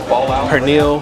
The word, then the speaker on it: pernil: And they have everything from pernil. How do you say pernil?